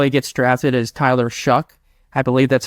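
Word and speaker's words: Shough: gets drafted is Tyler shuck I believe that's how you pronounce his last name I it's it ends with GH but I think it does pronounce as a k um he's the quarterback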